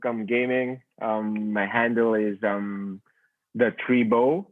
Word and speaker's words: Tribeaux: My handle is the Tribo. That's spelled with Tribeaux. It's like a French term for like a French e, like a funny term for the tribe in the Yep.